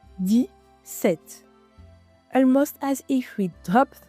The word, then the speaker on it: dix-sept: attention to the pronunciation in dix-sept you don’t really hear the "x" sound it sounds like di-sèt almost as if we